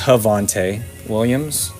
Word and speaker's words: Javonte Williams: It's actually pronounced Javonte Williams.